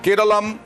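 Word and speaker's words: Keralam: তিনি জানান যে বারবার করেই সাংস্কৃতিক দিক থেকে কেরালের মানুষের কাছ থেকেই এই দাবি আসছিল যে কেরালের উচ্চারণ কেরালাম হওয়া উচিত এবং সেই কারণে কেরাল রাজ্যেরও নাম হওয়া উচিত কেরালম।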